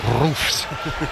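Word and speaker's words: Roefs: Robin Rofs or Robin Roofs as uh the pronunciation that that was you should stick with that one.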